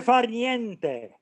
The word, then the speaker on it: far niente: Do you know how to pronounce far niente, Brian? Obviously not. Dolce far niente.